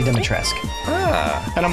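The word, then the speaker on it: Dimitrescu: Lady Demetrescu style. I actually heard somebody say that it's not the last part of Dumitrescu, even though it's said or it's spelled that way. Yeah. It's actually Lady Dumitrescu.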